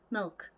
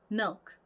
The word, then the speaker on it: milk: 보시면은 저희는 이거 밀크 이렇게 발음을 하지만 얘 역시 이 끝발음이 크 이렇게 발음이 나지 않아요. 그냥 milk, milk, milk 이렇게 굉장히 존재감 없이 그냥 크 이렇게 살짝 바람 빠지는 소리가 날 뿐이에요.